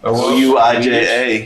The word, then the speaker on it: Ouija: Ouija. I don't know. Ouija.